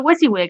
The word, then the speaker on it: WYSIWYG: their ordering and they're like let's check the wizzy wig i'm like what's a wysiwyg they're like you